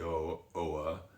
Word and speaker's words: Oa: southwest tip of Islay is known as the O, or the Oa, and it is the tip of it is a rocky cliff called the Mull of O.